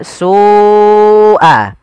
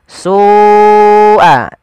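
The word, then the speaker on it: سُوءَ: l harakat karena kenapa Karena pada lafal su Awalnya dia dua harakat karena datang setelahnya huruf hamzah dan hamzah tersebut pada satu kata maka kita namakan dengan mad wajib muttasil jadi kita membacanya Seperti apa Sua Sua ya dipanjangkan dahulu kemudianfal alab di sini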